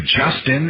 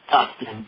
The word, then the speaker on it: Dustin: my name wrong uh my name is Dustin d n Dustin with a d what can I do